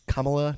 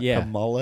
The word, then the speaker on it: Kamala: And also, you said it wrong, Seth. It's Kamala, not Camala.